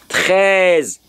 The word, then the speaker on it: treize: Now, from my pronunciation there, for the Frenchman's pronunciation, I am hearing T R Z. And if I do T R Z, in my mind, I will have treize. Treize. T R E Z is what I'm hearing.